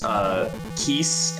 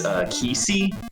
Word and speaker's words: Keese: Like, I pronounced Keese as Kesey for some reason. Kesey.